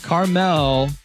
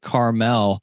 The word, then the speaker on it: Carmel: Carmel is what you guys call it out there. I'm coming from Carmel, Indiana, and people who come from California often pronounce it Carmel, even though they're spelled the same.